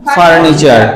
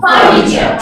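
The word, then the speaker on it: furniture: আমরা বলতাম ফারনিচার রাইট এখন থেকে আর ফার্নিচার বলব না আমরা বলব আচ্ছা একটু খেয়াল করবো আমরা এখানে একটা ছোট্ট রাফ সাউন্ড দেখতে পাচ্ছি তাই না এই যে এটা আসলে হবে না এখানে হ্যা এটা ক্রস তো আমার সাথে সাথে বল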